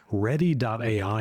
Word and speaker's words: Readdy: Ready.ai is another interesting option. I'm going to spell that one for you.